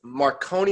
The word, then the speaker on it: Marconi: In 2019, he received the prestigious Marconi Award. Am I pronouncing that correct?